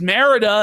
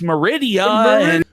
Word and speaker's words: Merida: But I guess not because J was embarrassed that he pronounced Merida as Meridia.